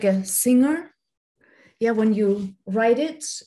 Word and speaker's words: Singer: with singing in belarus we like to pronounce this brand of sewing machines with a german accent because um zingers uh